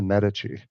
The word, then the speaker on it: Medici: And and I believe, you know, not not to uh rain on your parade, I believe it's pronounced the Medici.